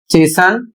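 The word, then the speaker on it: chasten: इसमें कह रहा है कुछ कॉमन स्टैंडर्ड वर्ड्स में टी साइलेंट रहता है।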